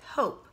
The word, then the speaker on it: hope: But it also had three sounds with hope. H, ope. Hope. Even though it has four letters. Because we know that E is silent.